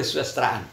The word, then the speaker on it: kesusastraan: Jadi bacanya nanti kebanyakan kesusastraan, ya. Jadi yang kedengaran itu susnya, ya, kesusastraan. Kalau dia menjadi misalnya kata sisi, ya, jadi kan ada juga sisnya, ya.